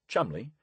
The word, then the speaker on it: Cholmondeley: Chol Manderly, pronounced Chumley, was one of nature's more notable eccentrics, but a most effective warrior in this strange and complicated war.